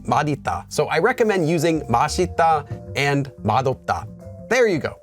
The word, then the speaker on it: 맛있다: says it as Mita so I recommend using masita and mad there you go but for those